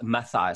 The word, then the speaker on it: Mathai: Mathai, so it's actually a TH. Yeah, almost like my thigh, Mathai.